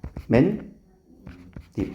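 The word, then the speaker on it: 맨입: 이거 발음 어떻게 나니? 맨잎 맨 립. 어, 잠깐만. 이거 그러면 뭐가 어떻게 됐어? 여기가 이렇게 체크해 주면 니은이 어떻게 됐어? 생겼네. 그걸 우리는 되게 뭐라고 표현했니? 고차원지 언어로. 니은 첨가.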